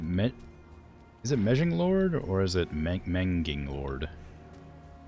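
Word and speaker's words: Megingjord: Is it Mejing Yord? I don't know Swedish very well. I don't know how G's are pronounced in Swedish. Okay, I was missing 5. Thunderstone. Whatever that is. It's Menging Yord.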